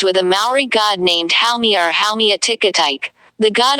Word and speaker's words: Haumea: Haumea Haumea, pronounced hum in the Hawaiian language, is the goddess of fertility and childbirth in Hawaiian mythology.